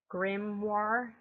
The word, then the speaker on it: Grimoire: I now call it a Grimoire, if I could pronounce that better. Grimoire.